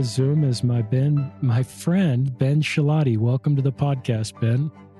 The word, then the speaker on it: Schilaty: Yeah, so I joke that my last name roughly rhymes with beef patty. So Schilaty, beef patty. Also, I say that if I had a daughter, I would name her Maddie, so she'd be Maddie Schilaty.